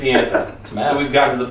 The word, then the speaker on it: Ianthe: How do you pronounce Iantha? I can't. No one knows. Raise your hand if it's Iantha.